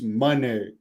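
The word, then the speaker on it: Moné: I noticed in this she pronounced her name on the Texas thing as Mercedes Monee and every there's a lot of people that say Monae I thought it was Monae so I was kind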